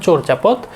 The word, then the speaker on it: চর্যাপদ: সঠিক উচ্চারণটা হচ্ছে চর্যাপদ।